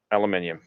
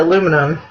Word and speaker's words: aluminium: Copper, brass, aluminium. See, I think I'd probably even like the aluminum.